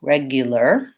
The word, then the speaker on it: regular: Again, even though those are spelled with AR, they have the ER sound at the end. So for regular, it's regu. So that sounds like a G and a Y and an U, regular. And first syllable stress, 2 short ones, regular.